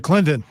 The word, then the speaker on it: Clinton: He said Clinton. So he pronounced the T.